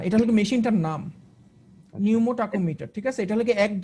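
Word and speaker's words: pneumotachometer: এটার নামটা একটু কঠিন, নিউমাটোকোমিটার, মানে এটার বানানটা হলে গিয়ে এরকম যে পি নিউমোটাকোমিটার, নামটা বেশ কঠিন, আমারই পড়তে কষ্ট হয়।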